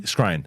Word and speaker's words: Skrein: Skrein.